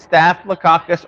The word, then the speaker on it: Staphylococcus: Methicillin-resistant Staphylococcus aureus. Like coccus, like cockroach, so I think I got it down.